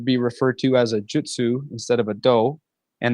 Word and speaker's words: jutsu: is suppleness softness yielding and jutsu is an art or a skill and in English it just kind of sounds like Jitsu when you say it fast so we just say Jitsu with an i it's